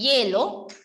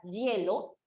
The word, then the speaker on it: hielo: Pero ahí sí no puedes colocar porque al momento de pronunciar la palabra hielo, realmente la palabra hielo no suena a i, sino que suena a y, como un yeísmo.